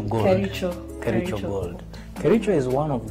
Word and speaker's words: Kericho: How do you pronounce the name? Kericho Gold. Kericho Gold.